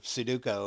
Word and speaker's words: Sudoku: I mean, I guess you're kind of competing with yourself if you're doing a crossword or Sudoku or did I say it right? Sudoku.